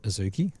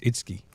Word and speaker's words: Itsuki: But we have been told in the chat that it's not Azuki. It's Itsuki. The U is silent.